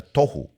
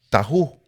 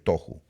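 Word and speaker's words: תֹהוּ: Es la palabra que en hebreo se pronuncia tohu. Pero algunas personas les dicen tahu.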